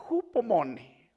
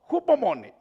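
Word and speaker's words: ὑπομονή: la palabra paciencia, hay una palabra que se pronuncia hupomone, hupomone.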